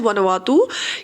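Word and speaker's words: Vanuatu: में थी वो थी वनों तू हम इसको प्रोनाउंस कर सकते हैं आज वन ओवर तू ये जो है इसकी वनों तो जो है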